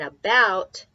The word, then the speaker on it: about: And about Just like the fact that some of these other letters sound like U instead of O. In this case, A sounds like a U.